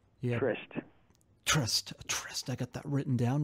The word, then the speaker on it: Tryst: a writer director producer and then you did trust yeah trust tryst I got that written down wrong pronounced wrist and it seemed you know secret